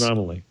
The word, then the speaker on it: anomaly: Yeah, but I pronounce it. The word is anomaly.